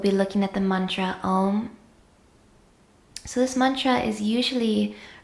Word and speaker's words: AUM: So in this first video of the series, we'll be looking at the mantra AUM. So this mantra is usually written out with the letters OM. And it's often pronounced in that way as well, Om.